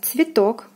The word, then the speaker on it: цветок: Next we have цветок, цветок, цветок. O is stressed, is pronounced as in the alphabet.